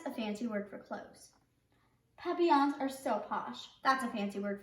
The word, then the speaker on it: Papillon: like her neighbor's dog you say it like this Papillon in French it means